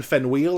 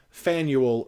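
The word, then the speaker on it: Faneuil: believe the driver said fan Yule rhymes with manual yeah yes but we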